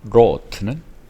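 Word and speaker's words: wrought: 그 다음에 rot는 아까 말씀드렸던 work의 과거라 했죠. work, rot. 이게 묵음입니다. 묵음. the storm, 폭풍이 자행 일을 했어요.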